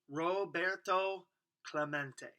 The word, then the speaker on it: Roberto Clemente: bat he heard the announcer stumbled through his Spanish named Rob ro Bert um let's see toe clue mate it echoed in the near empty stands Roberto Clemente was his name and this is pronounced Roberto Clemente as if to introduce